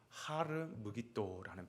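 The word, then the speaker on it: הר מגידו: 이 아마게돈이라고 하는 것은 히브리어 그대로 발음 표기를 하면 하르 무기또라는 표현입니다.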